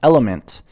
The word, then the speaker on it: LMNT: the surface for you lmnt pronounced element is a tasty electrolyte